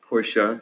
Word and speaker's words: Porsche: correct you on on the pronunciation of porsche is porsha since i've had